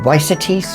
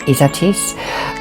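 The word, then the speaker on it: Ysatis: isatis um some people call it izatis or weissatis or but it's pronounced izatis um strong this is strong isn't it can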